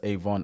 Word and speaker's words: Avant: to influence behind the scenes, I think Clarence Avon is definitely someone you should check out. Again, his surname is spelled Avant, so that you guys know.